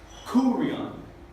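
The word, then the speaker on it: κύριον: Y aquí vamos a poner la énfasis en la primera sílaba, kurion.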